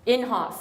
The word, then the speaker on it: Inhofe: Inhofe, okay.